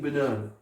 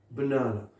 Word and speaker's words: banana: deuxième syllabe, troisième syllabe, la syllabe qui suit ce symbole est accentuée. Banana, banana. I'm eating banana, banana. Est-ce que vous entendez la deuxième syllabe accentuée?